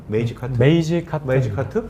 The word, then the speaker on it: Magecart: 발음을? 메이지 카트? 메이지 카트.